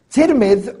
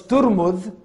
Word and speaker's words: Tirmidh: Tirmidh, or some mentioned that the original pronunciation of the name of the town, the city, was Turmudh.